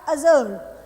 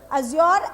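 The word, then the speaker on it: azure: अगला है हमारे पास अजर। अज्योर एंड अजर डिफरेंट प्रोनाउंसिएशन है दोनों, ब्रिटिश और अमेरिकन।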